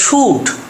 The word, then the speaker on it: should: আবার শোল্ডার থেকে যদি ইয়ার বাদ দিই, শুধু শুধু ইয়ারটা বাদ দিলে এটার উচ্চারণ হয়ে যায় শুড, এটার উচ্চারণ হয় শুড, এখানে উচ্চারণ শুড, কিন্তু এটার ক্ষেত্রে হচ্ছে শোল্ডার।